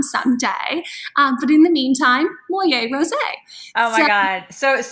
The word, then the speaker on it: Moyet: So it's Moyet, that's her last name. Moyet Rosé, which of course, like how perfect that you have the last name that rhymes with the wine.